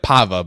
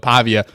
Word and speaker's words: Pavia: absolute dog Diego paa it was they said it pava but Pavia um the kid's a